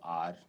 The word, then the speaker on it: hour: ऐसे फाइट में G silent है और स्ट्रेट में फिर अगेन GH साइलेंट है, तो GH इज। अब इसमें देखिए आप, HONEST honest, HONOUR ऑनर, HOUR आर, और आर है लेकिन ये इसको हम बोलते